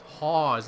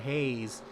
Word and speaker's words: Hawes: One viewer pointed out it was Hawes, not Hayes.